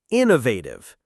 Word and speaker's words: innovative: First, innovative. Inovative. The stress is on the first syllable.